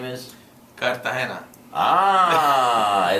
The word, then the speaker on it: Cartagena: Portuguese people say, but they, you know, the Spanish, they want to roll that G right out the door.